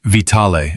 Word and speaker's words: Vitale: troops under a commander named Vitale of Aversa, pronounced Vitale of Aversa.